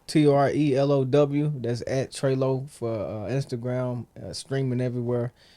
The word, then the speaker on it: TreLow: as well b-u-r-g-y yeah and for me it's trelo t-o-e-l-o-w that's at treylo for Instagram streaming everywhere it's treylo and Twitter